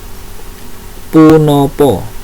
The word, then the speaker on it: punapa: Basa kromane yaitu punopo, tulisannya punapa tapi membacanya punopo ya.